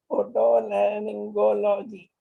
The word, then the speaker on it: Otorhinolaryngology: How do you pronounce that, Yashna? Otolaryngology. Otorhinolaryngology. Am I okay?